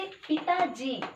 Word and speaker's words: पिताजी: पिताजी, पिताजी, यहाँ पे बलाघात कौन है, किस पे है, ता में है, ता पर बलाघात है।